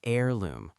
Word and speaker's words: heirloom: An heirloom pronounced heirloom, silent h.